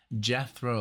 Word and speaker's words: Jethro: And then Alexia said Jethro like death row, and I'm like, okay, I got it.